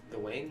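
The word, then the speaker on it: Gawain: can you spell that the wing it's like the night g-a-w-a-i-n it's Welsh for West Wind restaurants you can see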